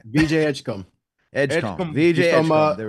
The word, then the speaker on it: Edgecombe: Chris, how do you pronounce his last name? VJ Edgecombe. Edgecombe.